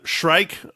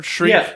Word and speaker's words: Shrike: Lang's character in particular, Shrike or whatever. Shriek? Yeah, I think it's Shrike. I think she pronounced it Shrike, yeah.